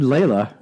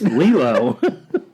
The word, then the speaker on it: Lilo: I said Layla. Yeah, it's from Collider. It's Lilo.